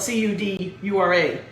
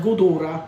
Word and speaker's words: Cudura: Cudura is spelled C-U-D-U-R-A. But sometimes when you hear an old Sicilian say it, almost sounds like Gudura with a G, but it's a C.